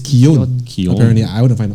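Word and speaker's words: Keoghan: basil that night we're wondering how do you pronounce his last name and then we were like is it is it kyogen it's not it's kion apparently i want to find ic right so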